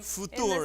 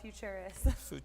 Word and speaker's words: Futuris: Yes, thank you so much for having me, and I love your true pronunciation of our name. Futuris. In the South, though, we just call it Futurist.